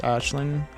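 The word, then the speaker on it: Aisling: the main iceling the is pronounced as an sh so would be pronounced Ashling weird I do not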